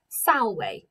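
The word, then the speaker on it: salve: about too much but the letter v in latin is pronounced as a w so this word is pronounced sallway and it means hello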